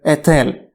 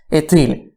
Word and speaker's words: Էթիլ: First, to the river Etel, or if we follow the way of pronunciation suggested by the classical Armenian text, Etil, whose ancient name is